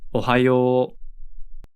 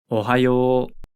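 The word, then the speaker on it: おはよう: Japanese is Ohio Ohio remember that an OU combination usually creates a long o sound in Japanese listen closely and repeat Ohio Ohio Ohio is a casual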